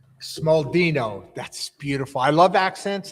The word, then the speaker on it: Smaldino: to ask because that Italian accent can get butchered easy, right? Smallino. I was close, right? Was I in the ballpark? That was Yeah. Smaldino.